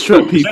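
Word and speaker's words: Schweppes: ginger ale that starts with SH is it schwap pees it is schwap pees he PE Ginger swap pees all right KK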